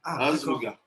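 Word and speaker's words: אזבוגה: Ça se prononce comme je dis, Azvuga.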